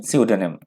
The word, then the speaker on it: pseudonym: सियोडोनिम, ध्यान रखिएगा प्रोनाउंसिएशन, सियोडोनिम।